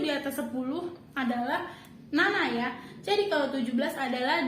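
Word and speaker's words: なな: dia untuk teman-teman Halo untuk angka 7 di atas 10 dibaca namanya temen-temen dibaca Nana kalau untuk empat angka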